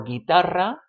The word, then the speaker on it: guitarra: If you want ge or gi, like in guerra or guitarra, guerra, war, guitarra, guitar, then you need to put in that u that no one is going to pronounce.